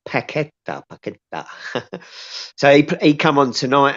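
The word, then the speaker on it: Paquetá: His name's Paqueta, but it's spelled Paqueta with a Q. but you don't pronounce the Q. You say Paqueta.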